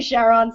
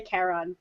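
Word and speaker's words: Charon: look some people say Sharon some people say Karen doesn't matter knew right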